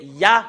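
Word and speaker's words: יה: Et nous avons vu tout à l'heure que le Yod et le He, c'est Ya qu'on le lit.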